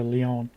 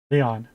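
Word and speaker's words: León: And I gather that the real pronunciation's very close to the English name Leon. I mean, or at least how the English would pronounce the name Leon.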